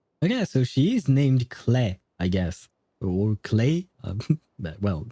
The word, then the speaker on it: Klee: Wait, they pronounce it Clay? I think that's what he said, right? Or was it just a Japanese word? I think because it's not written in the subtitles, but I do think that they actually said Clay to call Klee.